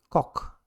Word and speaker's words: Cox: She's from the Netherlands, Holland, and you say it cock, like the chicken, cock.